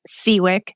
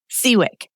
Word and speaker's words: Siwiec: is your last name it's seawick nothing like it's spelled so don't even worry